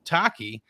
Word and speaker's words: Tacchi: of the Titans fan base creator of its pronounced Taki Taki how you doing buddy heyy guys thanks